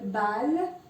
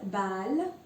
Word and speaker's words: balle: Well, there's no change. So you will pronounce it exactly as it is. No Y sound, okay? So, example, balle means a ball, balle.